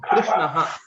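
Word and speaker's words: कृष्णः: Okay, so it is R. It is constant. Krishnaha. That is the right way to pronounce it.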